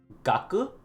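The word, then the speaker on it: 学: This kanji is what we call gaku. Gaku is how it's pronounced.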